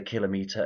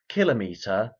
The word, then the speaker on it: kilometre: There are two common pronunciations for the word kilometer and kilometer. The former pronunciation follows the general pattern in English whereby metric units are pronounced with the stress on the first syllable and the pronunciation of